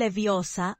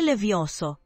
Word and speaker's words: Leviosa: Χάρη, τιούτα, λέγε Wingardium Leviosa, όχι Levioso.